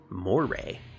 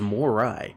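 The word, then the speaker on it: Moirai: We three Moira sisters will Moray. I thought it was Morai.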